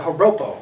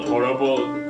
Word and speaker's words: joropo: This is the joropo. This is spelled with a J.